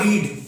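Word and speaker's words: read: अब रीड को हम प्रोनाउंस करेंगे रेड, क्योंकि रेड यहाँ पे क्या है? थर्ड फॉर्म है। क्या रेड है? थर्ड फॉर्म है। रीड, रेड, रेड। Spelling same होती है बट इनके जो प्रोनाउंस होते हैं वो डिफरेंट होते हैं। रीड, रेड, रेड। Second form, third form को रेड प्रोनाउंस करते हैं बट स्पेलिंग सेम होती है।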